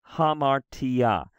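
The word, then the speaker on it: ἁμαρτία: quickly as you can so for example the hamartia because you can break the syllable after the Alpha you do so it's ha Mar and if there are two consonants together usually one goes with one syllable and one with the other right if there are two constants together one usually goes with one syllable a moment the next ha Mar T right hamartia and the and we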